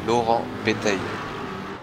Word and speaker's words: Laurent Bétaille: It's not even Laurent. It's Laurent Bétaille.